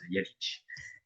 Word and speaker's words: Jalics: Donc là, c'est une présentation sur cette méditation contemplative selon le jésuite Franz Jalisch, prononce à la hongroise Jalisch.